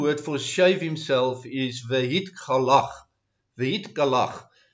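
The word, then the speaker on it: והתגלח: The Hebrew word for shave himself is vehit galach. Vehit galach. It's spelled Vav Hey Gimel Lamed Chet, and the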